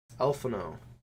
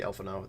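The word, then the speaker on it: Alphinaud: Elfanod. Well, the way they pronounce his name in the game, they say Elfanod. The D is silent.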